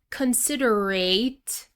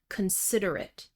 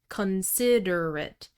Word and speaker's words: considerate: So, it's not pronounced like the word ate, past tense of eat. It's really a schwa sound.